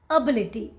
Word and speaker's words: ability: call this one ability don't call it ability okay so the correct way to pronounce this word is ability ability this one it looks you